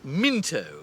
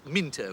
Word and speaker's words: Mousepaddler: That's Minto. It's written Mousepaddler, but it's pronounced Minto. It's an English thing.